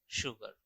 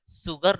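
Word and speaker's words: sugar: तो I have some शुगर। अब ये सही है। देखिए मैं एक सेंटेंस, मैं जो एक वर्ड का जो प्रोनाउंसिएशन कर रहा हूं, मैं सुगर नहीं बोल रहा, मैं शुगर बोल रहा हूं।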